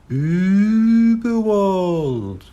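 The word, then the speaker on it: Überwald: Uberwald, he read out. That's Uberwald, said a small, squeaky, but very clear voice. The dots make it suck a long ooh sound, but you're doing very well. Uberwald.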